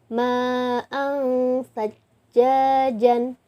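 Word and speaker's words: مَاءً ثَجَّاجًا: Di sini cirinya adalah tanwin. Tanwinnya berarti fathah tain ya. Fathah tain atau tanwin bertemu dengan huruf sa. Jadi dibacanya ma'ang sajjajan.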